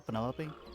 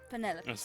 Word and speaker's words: Penelope: is that short for penelope officially yes but i never can be bothered with all four syllables of it penelope little ostentatious coming out